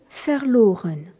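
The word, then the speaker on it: verloren: fort en allemand dont le participe passé est faireloren V e r l o r e n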